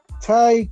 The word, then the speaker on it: Tay: I say Ty Conti, mm-hmm. but it's spelled Tay Conti. How do you pronounce it? Because -1 said it's pronounced Ty. How do you pronounce it? I pronounce it Ty Conti.